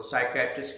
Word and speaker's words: psychiatrist: तो साइकियाट्रिस्ट की स्पेलिंग फिर सुन लीजिए, PSYCHIATRIST। ऊपर लिखा हुआ भी देखेंगे आप, साइकियाट्रिस्ट। बोलने का इसका पी यहाँ पर बिल्कुल खामोश बैठा है, सिर्फ आपको उलझा रहा है।